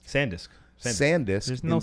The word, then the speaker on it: SanDisk: SanDisk or ScanDisk? SanDisk. SanDisk. There's no in- C. There's no C.